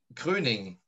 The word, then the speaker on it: Kröning: do you say it yeah how do you pruning pruning yes it's a little i had i